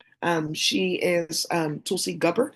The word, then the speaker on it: Tulsi Gabbard: Um she is um Tulsi Gabbard. I think that's how they say her name. Tulsi Gabbard.